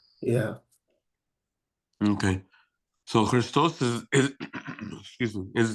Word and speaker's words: Ⲭⲣⲓⲥⲧⲟⲥ: Crystal. So you're you're elongating the the the um the O right. When I say sound like a S, I'm pronouncing the sema. Okay. The the letter C.